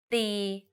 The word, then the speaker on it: ติ: For example, ติ and ตี The first word ติ with the shorter sound means to criticize.